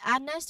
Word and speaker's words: honest: Same as with honest, we didn't say honest, but we say honest.